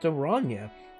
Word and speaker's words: Oranje: Oranje is pronounced Oranje.